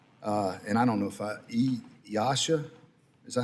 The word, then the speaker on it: EASA: regulators, such as, and I don't know if EASA, is that how you pronounce that?